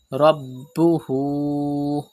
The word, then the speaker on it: ربه: Rabbuhu. Pronounce ba with emphasis because ba is a qalqala letter and it is mushaddad in this word, and there is hamza after ulta pesh.